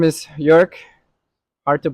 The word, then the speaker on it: Joerg: So, yeah, my name is Jük. Hard to pronounce.